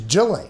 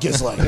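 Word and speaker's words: Ghislaine: Her name is Jelaine. Yeah. It is not Gizlane.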